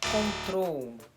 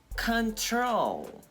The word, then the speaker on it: control: E não é "cóntrol" é... ''É "contrôl", tá? O assento, a entonação vai ser na segunda sílaba.